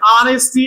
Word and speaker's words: honesty: And honesty, it is silent.